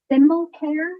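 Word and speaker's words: Sinnelkjaer: Marilyn Moore both yes and last um Robert simelcare support a member member and chairperson of the board of directors for the Connecticut state Lottery Corporation how do you pronounce his last name symbol care it's s-i-n-n-e-l-k-j-a-e-r okay Marilyn Moore votes yes thank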